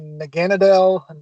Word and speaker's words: Naganadel: Nag- There's several ways to pronounce it. There hasn't been a conclusive name. A lot of people say Naganadel, Naganadel. Um, I just say Naganadel because it's just the easiest way to say it.